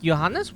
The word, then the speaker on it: Johannes: name Powell Powell but yanes was was correct yeah that's how it's pronounced the the the author of this letter Johannes yes that's the German version of the name John Johannes there are many